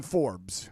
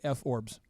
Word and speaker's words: Forbes: We like to go to reliable sources like the Google and the Forbes. It's called Forbes, but if you want to mispronounce it at home, you could say F-Orbs.